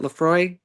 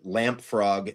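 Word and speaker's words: Laphroaig: And you did nail the pronunciation of Lefroy. However, I do accept lamp frog as a answer as well.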